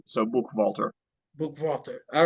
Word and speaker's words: Buchwalter: It is Buchwalter. So put a little stank on the H, and the W sounds like a V. So Buchwalter.